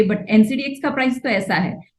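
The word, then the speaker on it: NCDEX: we would say, but NCDX ka price to aisa hai. NCDX for them has become a generic name, they don't even pronounce the E there, but NCDX ka price aisa hai.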